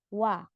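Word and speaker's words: 와: Kemudian ditambahkan a digabung itu akan dibaca sebagai wa Nah coba misal ya Run Ucapkan O dan a secara cepat itu akan jadi wa bunyinya o wa o wa o wa wa wa gitu ya jadi wa jadi O dulu baru a o dulu baru a Nah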